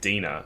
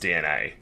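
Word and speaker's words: DeNA: But yeah, so recently they announced that they're partnering with a games company called Dina, mobile games company called Dina. Apparently pronounced DNA, because why not? Yeah. But it's spelled D-E-N-A.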